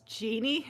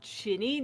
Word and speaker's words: genie: invoked first of all it's genie not ginny that's a character from harry potter genie is originally pronounced